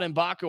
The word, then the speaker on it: Mgbako: these guys performance and to say that about inbaku I think is the correct way to do